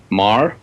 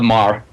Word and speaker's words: Meagher: The work of Robert Emmett Marr, spelled Meagher. So I couldn't pronounce it until I met him. But Bob Marr.